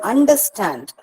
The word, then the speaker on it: understand: So in the word understand, both are not stressed. Understand, both are not stressed. And are not stressed and stand is stressed.